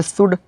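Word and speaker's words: should: एल देखें लोग तो इसका रूल था अगर एल के बाद DFM या के कोई आए तो वहाँ पे एल साइलेंट हो जाएगा। यहाँ पे शुड या हाफ, वाक, पाम, यहाँ पे सब जगह एल क्या है, साइलेंट है।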